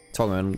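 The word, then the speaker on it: Tangyuan: Tonguen. Tangu and rather tong. It is tonguen by the way. It's the pronunciation of it.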